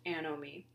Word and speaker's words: anomie: concept of anomie so this is pronounced a know me a know me is